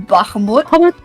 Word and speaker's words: Bahamut: I call I call his I say his name as if it was Arabic and I don't know why that started, but I always call him I always call him Bahamut. Correct. If if I don't know that feels more correct. That's the way I must say his name.